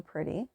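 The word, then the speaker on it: Pridie: called the pretty collection it's a play off of my name the pretty collection is spelled p r i d i e it is an English name but when I introduce myself to people people say who what's your name and I'll say pretty and they always say oh that's a pretty name so they think it's spelled p r TT Y and it's really funny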